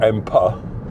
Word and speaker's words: Emba: And both can be pronounced Ember or Empa. Seems to be interchangeable, and with how you spell it.